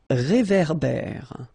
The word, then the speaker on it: réverbère: Un ré. So here you've got this accent aigu, et, and then here you've got this accent grave, é. Okay, et, é. So it goes like réverbère. Okay, un réverbère.